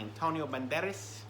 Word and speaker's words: Antonio Banderas: enforcer starring Antonio Banderas you gotta say it like that you can't just say Antonio Banderas he is a Spanish Legend from from Spain you've got to say you got to give it that that Flair he deserves and Antonio